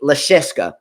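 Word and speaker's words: Jiří Lehečka: about to face jiri lecheska okay now he he is from Le Cheska that's how you pronounce his name um he is born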